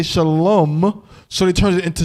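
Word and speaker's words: שלום: today right they say they don't say ah salawah malaykam they say a salam because this is the word that it comes from there is no wah it's shalom all right so then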